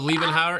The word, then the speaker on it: Liebhaber: Oh, Liebhaber.